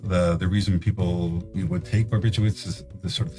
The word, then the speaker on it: barbiturates: All right, so shifting from alcohol to barbiturates. Actually, it's funny, it's like spelled barbiturates, but oftentimes it's pronounced barbiturates, as if there's a W in there, barbiturate.